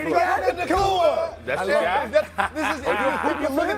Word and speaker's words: Puka Nacua: How do you pronounce it again? Puka Nacua. I ain't saying it. I'll get myself in trouble. Puka Nacua. Puka. What? It's Puka Nacua. Don't say it. Puka Nacua.